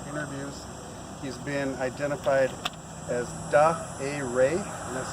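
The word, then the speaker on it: Dah Eh Ray: He's been identified as Da A. Ray, and that's spelled D-A-H, middle name E-H, last name R-A-Y.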